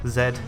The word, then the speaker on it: Z: Z but um in in England I think in Australia as well and probably New Zealand it's pronounced Zed instead so it's just it's